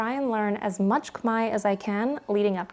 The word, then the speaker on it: Khmer: count as a takeaway is that it is pronounced Kai even though visually it looks like it should be pronounced Kare uh when you come to Cambodia you hear